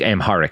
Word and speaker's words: Amharic: Um I think Amharic is how it's pronounced. It's am h a r i c.